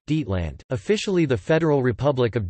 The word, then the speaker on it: Deutschland: Germany, German, Deutschland, German pronunciation, Dietland, officially the Federal Republic of Germany, German, Bundesrepublik